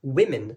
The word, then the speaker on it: women: On va pas dire woman, mais on va dire ça women. C'est presque que des i encore une fois, avec bien sûr la prononciation anglaise.